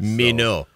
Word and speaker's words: Minot: The drive from your location to Minot is 113.2 miles. Minot is giving us the French pronunciation there. Yes, it always does that in all these. Minot.